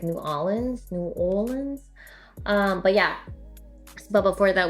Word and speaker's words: New Orleans: New Orleans. Apparently I say it wrong. It's like New Orleans.